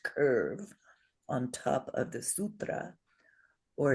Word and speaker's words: sutra: So this lovely word is sutra. Sutra. And we're going to exaggerate because we're learning the long ones, right? Here's the drum. Sutra. So it has 2 syllables, but 3 beats.